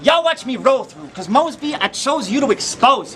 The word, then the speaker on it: Moseby: mean you swing but you got my name wrong it's Mosby but you said what must be well when you look